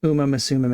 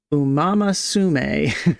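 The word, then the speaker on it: Uma Musume: exactly, but it's something instead of like Uma Misum, it sounded like it was like umamasume or something, you know?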